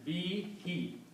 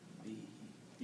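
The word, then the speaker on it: بِهِ: is the water so when you read these together you pronounce them as be he be he yeah this who is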